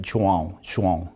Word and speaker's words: João: The Portuguese people, or even the Brazilian people, the pronunciation is like João. Oh. So it's a little different. And Joao means Juan in Spanish, in John in English.